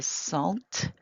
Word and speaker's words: sentent: Nous nous sentons, vous sentez, ils se sentent. Here we are pronouncing that T, but not the ENT.